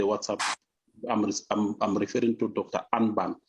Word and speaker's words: Unben Pillay: So here is Unben, but you can correct me if I pronounce the name very well. Over to you, Doc. Thank you, Faustino. The pronunciation is perfect. It's Unben Pillay.